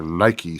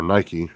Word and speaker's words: Nike: Nik because it's it's it's based on the Greek word for victory which was pronounced Nike it's n s so